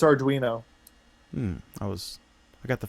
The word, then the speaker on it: Arduino: pi and is it adino how do you pronounce that Allan I believe it's Arduino that was I got the first syllable right